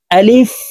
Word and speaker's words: আলিফ: হবে আমরা অনেকেই এই আলিফ উচ্চারণ করার সময় টেনে পড়ে থাকি আলিফ এভাবে টেনে পড়ে থাকি তো প্রিয় দর্শক এই আলিফ উচ্চারণ করার সময় টেনে পড়া যাবে না তাড়াতাড়ি করে উচ্চারণ করতে হবে আলিফ আপনারা আমার সঙ্গে বলুন